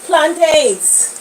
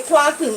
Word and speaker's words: plantain: frying some nice sweet plantains sweet sweet Haman plantains you say planting in the baham is PL but the correct pronunciation is plantain get them regie said